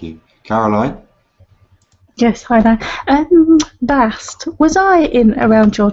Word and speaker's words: Bast: Please be sure to put the at the end. Bast. That is the feminine pronunciation.